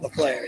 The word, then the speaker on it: Lafleur: Did he get that right, by the way? Yes. Lafleur? Lafleur, yes.